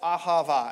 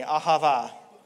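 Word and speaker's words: אהבה: the word love that we see here is pronounced ahava everyone say that with me ahava you just spoke hebrew congratulations hebrews the original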